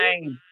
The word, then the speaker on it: Devine: Is it Devin? Divine, Divine. divine, Hey, divine. is that your real name? That's my last name. It's on Divine. my back. I love it. Okay, because we could have pronounced it Devin or whatever. No, Divine.